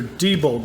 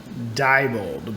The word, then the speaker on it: Diebold: you know these are Diebold blocks a lot of people call them Diebold but it's actually Diebold those how it's pronounced but Diebold never made